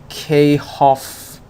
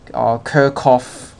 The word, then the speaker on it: Kirchhoff: like this yeah yeah I should be K Hoffs law k Hoffs currents law or in English kerkhof currents law all right but actually